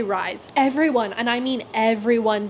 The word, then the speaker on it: Rysand: His name is Rysand, by the way. We meet Rysand. I don't know if you know that's how you say his name. I'm just gonna say Rise.